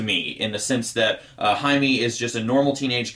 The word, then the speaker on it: Jaime: I'm sure at some point in this video I'm going to accidentally call him Jamie. That's how his name is spelled, but I think it's pronounced Jaime.